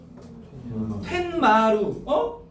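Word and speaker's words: 툇마루: 니은이 없는데 니은이 덧나네. 맞아? 텐마루. 오늘 배운 거 볼까? 이 소리. 첨가 사이 소리 첨가야. 알겠어? 사이 소리 첨가야 2번은. 퇴 플러스 마루야 원래. 퇴 플러스 마루. 근데 발음하면 텐마루. 니은이 덧나잖아요.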